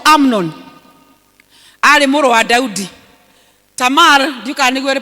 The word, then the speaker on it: Tamar: Tamar ndiuka nĩguo rĩ pronounceagwo, arĩ mwarĩ wa Daudi.